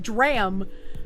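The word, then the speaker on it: drachm: And that's when I learned it was pronounced drram.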